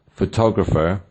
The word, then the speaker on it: photographer: As you can see, photograph has the stress on the first syllable, photographer on the second, and photographic on the third.